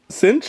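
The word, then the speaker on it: Sytch: good things about you guys seriously Tami's sint cinch is how you say her name sunny shoot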